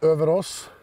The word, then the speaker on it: Øverås: And how do you properly pronounce? So we are at Øverås. Øverås.